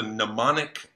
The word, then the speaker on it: mnemonic: Namasini is the goddess of memory, and you use something called a mnemonic device. That first M is silent, just to fool you.